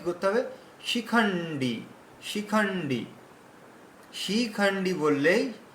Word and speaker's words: शिखण्डी: শিখণ্ডী বললেই শি দীর্ঘ উচ্চারণ হচ্ছে। রস্য উচ্চারণ হবে, রস্য। না না না না না না শিখণ্ডী শিখণ্ডী।